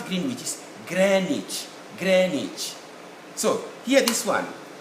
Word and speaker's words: Greenwich: phonetic representation are here greenwich mean time greenwich mean time like that even the americans say the same marriage so the w is definitely not pronounced and the double e